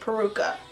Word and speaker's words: peruca: but I do have the peruca peruca okay peruca that's how you say it okay hi guys